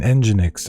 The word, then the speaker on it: Nginx: wrong an rtmp server and but uh an enginex rtmp server for rest streaming for this for